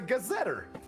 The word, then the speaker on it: gazetteer: literally everything a Gazette I've always thought that was a gazetteer that's how that's pronounced okay breaks what down